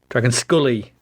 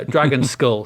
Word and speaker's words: Dragonskulle: section is dragon skull dragon skull spelt with an e dragon scully so not to be confused with mulder and scully uh dragon skull so this is the